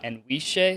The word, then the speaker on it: Anwisye: jamie birdish i am here with coach uh and shea is that how you pronounce it yes all right and we're gonna